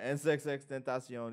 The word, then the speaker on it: XXXTentacion: And there's a rumor that he copied it from XXXTentacion. It's not a rumor. No. Oh, it's not a rumor. XXXTentacion, and I'm not by any means a writer of XXXTentacion, even though I think I fuck with him.